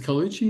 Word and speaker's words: Colucci: How do you pronounce it? Is Colucci? Is that right? Yeah, Janna Colucci. That's right. Janna Colucci.